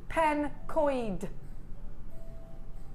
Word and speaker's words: Pencoed: Jen Pankcoed is pronounced pencoid. Pencoid. Pencoid. Pencoid. Does that look right to you? Pencoid. Penco or Penco. Well, I'm going to call it Pencoed.